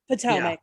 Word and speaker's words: Potomac: Potomac.